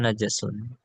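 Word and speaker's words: نجس: Bacanya najasun. Bifathil jim. Najasun.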